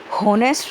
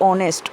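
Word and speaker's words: honest: आवर और ऑनेस्ट हम हावर या होनेस्ट नहीं बोलते। अगर है का प्रोनाउंसिएशन होता तो ए लगता यहाँ पर, लेकिन प्रोनाउंसिएशन क्या है हमारा वोवल वाला है, मात्रा वाला है। आवर आ और ऑनेस्ट ओ, इसीलिए यहाँ पर एन का यूज़ हुआ।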